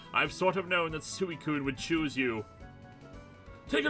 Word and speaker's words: Suicune: I feel like in this episode, if you're not going to name it, it's pronounced Suicune.